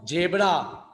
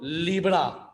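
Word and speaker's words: zebra: सर इसी तरह देखो British speaker pronounce जेब्रा to rhyme with डेब्रा मगर अमेरिकन स्पीकर क्या बोलते हैं राइम राइम का मतलब रिदम जेब्रा को क्या बोलते वो लोग लिब्रा समझ में आया राइम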